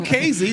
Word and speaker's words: Kazee: the touchdown it was casey that's how you say his name casey crazy casey yeah well